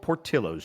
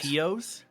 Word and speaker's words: Portillo's: We're going with Portillo's, chat. ooh. You mean Very nice. Portillos? No, I actually mean Portillo's. That's how it's pronounced.